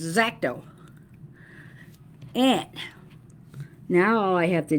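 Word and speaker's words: X-Acto: people pronounce it xacto there's no e only an X so it's zaco and now I have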